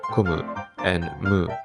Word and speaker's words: 金武: Furthermore, while the characters in his name could be pronounced as kon and bu in Japanese, becoming kombu, the version I read has those characters read as komu and mu, respectively.